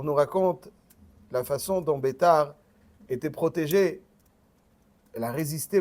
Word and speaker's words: Beitar: Et après que les Romains ont conquis à nouveau, ils se sont retranchés dans la ville de Beitar, que certains prononceront Biter.